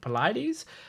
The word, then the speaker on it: Polites: I know how I've seen it's spelled sort of like polite. I'm just trying to remember how to pronounce it. Polites.